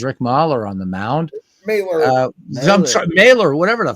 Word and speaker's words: Mahler: Even like Ernie says Mahler. So that's how you say it in German. It's Mahler. Yes, Mahler. Yeah. Hold on. So, let's pull up the baseball pronunciation guide and see if. All right, Tim is going to correct us here. Here we go. My Talking Baseball game says Mailer.